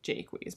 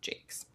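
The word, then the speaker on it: Jacques: the time and then i now thought i remembered him saying jaquez but apparently he says it jake's whatever redwall which i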